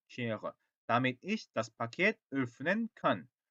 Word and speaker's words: öffnen: 요거 발음 우리 공부했죠? 왜 하고 다르죠? öffnen ich kann das Paket öffnen 그죠?